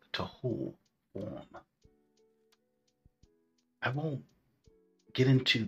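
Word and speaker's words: תהו: the state of Israel today, the word is pronounced tohu, form.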